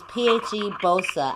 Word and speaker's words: PheBo5a: Alright, y'all, so that was Sacrifice, and I do have the artist with me on live, and listen, his name is PheBo5a.